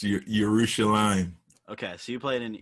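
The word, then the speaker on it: Yerushalayim: pronounced right yeah it's your urushi line okay so you played in your rooster lime as i say yeah normally it's pronouncing a j with like a y like that's the pronunciation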